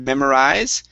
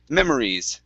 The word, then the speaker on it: memories: have uh the word memories okay so here at the end instead of memorize memories try that memories good next is destined